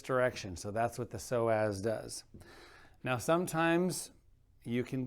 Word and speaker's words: psoas: Now there is a muscle that sits in front of the hip, and that muscle is called the psoas muscle, spelled with a P-S.